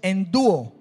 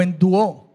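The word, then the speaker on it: ἐνδύω: puede tener en cuenta vestidos o vestirse en el griego es en Dúo o en Dúo porque tiene una un acento en la o en Dúo significa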